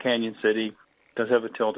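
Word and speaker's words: Cañon City: So officially it should have the tilde over the end to make that the Spanish Y sound, Canyon City.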